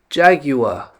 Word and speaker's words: jaguar: cat but you see the first letter j Jaguar J then the that other SIM the next symbol looks like an A and an e squished together ah ja and then the G